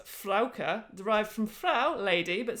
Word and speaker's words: Frauke: is a frog fraga german name pronounced flauker derived from frau lady